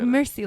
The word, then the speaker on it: Mairsyy: didn't tag me at Marcy it's another drink another drink um you'll get it it's like Mercy like like French this is how you actually say my name like Mercy like actually that makes